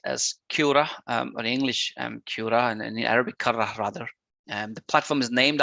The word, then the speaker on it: Qurra: specific platform called um basically the pronunciation is uh cura i'll bring up the